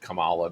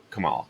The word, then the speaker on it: Kamala: who was Kamala Harris only he will probably pronounce it Kamala because he too will have forgotten that we were we were beaten over the head with the idea that we were to pronounce your name Kamala so Kamala excuse me